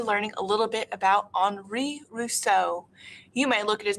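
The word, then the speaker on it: Henri Rousseau: going to be learning a little bit about anri rousseau you may look at his name and you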